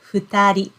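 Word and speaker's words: 二人: then person human the two people and we pronounce this word as futari futari okay yes as you can see even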